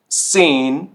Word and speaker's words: sehen: था जी या ज, तो ये अब साउंड करेगा स, स, ठीक है। zum Beispiel sehen, sehen, simmer, simmer और सूग, सूग।